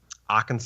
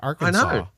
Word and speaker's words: Arkansas: If you're not from here, you wouldn't think Arkansas. You'd think Arkansas. It's like Kansas.